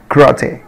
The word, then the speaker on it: karate: طبعا الـ A هنا حبيبي شوى يعني بنطقها قصيرة قوي, karate, karate, kung fu, kung fu, kung fu.